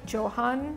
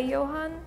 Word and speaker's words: Johan: Like usually we pronounce the J. In German we say yacht. We do like the Yan. Yo like it's almost like a Y like I don't